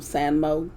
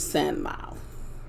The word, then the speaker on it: Sanmao: I was calling him Sanmo, but it's Sanmao.